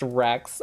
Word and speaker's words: WRX: So I drove my Subi up there, and pronounced Rex, hell yeah.